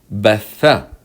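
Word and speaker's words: بثّ: You have a fatha short vowel on the first letter and then a shadda with fatha on the second letter. Try to pronounce this word. It does exist in Arabic. It is batha.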